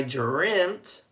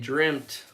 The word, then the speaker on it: dreamt: I dreamt these things. Yeah. It sounds like a T, not an ED. Yeah, it's good for pronunciation. So make sure you say the T.